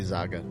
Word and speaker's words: Zaga: Joining me today is a guest, or Zaga, is that how it's pronounced? You can just call me Zaga.